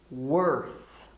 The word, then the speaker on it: worth: reflecting on what together worth worth it is worth reflecting on what together remember the th you always put your tongue out okay you have to